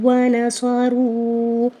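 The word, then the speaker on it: وانصروا: اگر ہم اس کی ہجے کریں، حمزہ کھڑا زبر آ، واو زبر واو، واو زبر وا، آ واو وا. نون زبر نا، صاد زبر صا، را واو مد پیش رو، آووا ونصروا.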